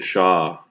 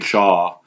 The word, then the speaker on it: Shaw: Logan Shaw Logan Shaw you got to say it like that if you're from Nova Scotia right you can't say Logan Shaw you have to say Logan sha right that's how that's how we say it in Nova Scotia and